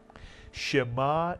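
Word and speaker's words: שמע: is only one syllable How would you pronounce this one syllable word shma is correct not shma but shma and what does shma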